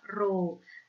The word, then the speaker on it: rho: Di sini ada M, di sini ada rho, dibacanya adalah rho.